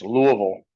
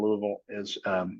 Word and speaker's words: Louisville: And if you didn't catch the pronunciation, it's Louisville, not Louisville. Believe me, say Louisville, and the people that live there will definitely correct you.